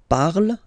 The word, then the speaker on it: parle: ending e, and then the way to pronounce it is je parle. Parle. So remember, we put it, okay, but then we don't really pronounce it.